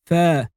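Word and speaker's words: فاء: And it's pronounced like the f of phone or the f of football. So you say fa.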